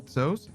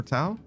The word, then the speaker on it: Tso: I go with uh general toos or tao. I think it's general tao. Actually, it's spelled tso, but I think it's like weirdly tao or something like that.